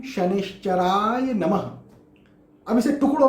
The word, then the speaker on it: शनैश्चराय: सही बीज मंत्र है ओम शं शनिश्चराय नमः। ओम शं शनिश्चराय नमः।